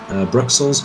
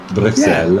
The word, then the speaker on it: Bruxelles: French blue cheese experience, But in English, it's Brussels as well, so why mispronounce the French? Either correctly pronounce the French or say the English.